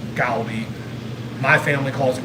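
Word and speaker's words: 갈비: I know it's pronounced gali. My family calls it carby, but Korean barbecue.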